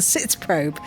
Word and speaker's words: Sitzprobe: part of the process which is called the sits probe. Did I pronounce it correctly? You did. And what is a sits probe, Simon?